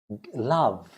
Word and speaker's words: love: We don't pronounce E when you say love. Love. V. No E. No E at all.